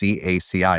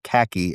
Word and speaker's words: CACI: It's actually pronounced CACI, not khaki, as a lot of people call it.